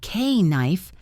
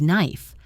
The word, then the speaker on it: knife: You do not pronounce the K. It is not K knife. It is knife.